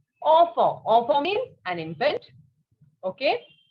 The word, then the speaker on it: enfant: It is not infant, it is in English. In French, we call it as enfant.